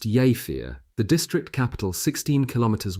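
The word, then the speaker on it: Jever: Present were the Iben's two daughters, both of whom attended high school in Java, pronounced Yafir, the district capital 16 km west northwest of Wilhelm's Haraven.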